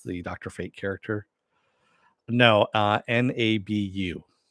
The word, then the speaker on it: Nabu: No, Nabu, Naboo. And yes, I am pronouncing it correctly because that's how they pronounce it on Young Justice, where Dr.